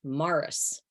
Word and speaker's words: Maurice: name ah well uh it's spelled of course Maurice but it's pronounced Morris okay you're not I'm